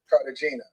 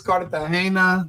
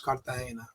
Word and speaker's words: Cartagena: Is it Carpena or is it Cartagena? I I don't know. It's Cartahena. The the um the G makes an H sound in Spanish. So, it's Kartahena.